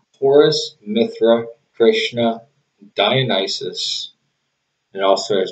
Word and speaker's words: Mithra: it would have said mithras the roman mithras the roman deity but it's a mithra or mitra i guess is the proper pronunciation even that wouldn't work